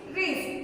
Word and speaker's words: wrist: Next word is wrist. W-R-I-S-T. Wrist. In this word also, W is silent letter in wrist.